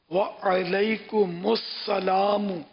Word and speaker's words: وعلیکم السلام: کہ وعلیکم، وعلیکم نہیں، عین پر بھی زبر ہے، وعلیکم السلام ورحمۃ اللہ وبرکاتہ، یہ